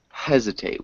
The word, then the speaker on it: hesitate: Hesitate. We need to pronounce the H.